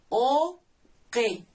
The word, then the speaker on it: uki: Se escribe uki, así, pero se pronuncia oque.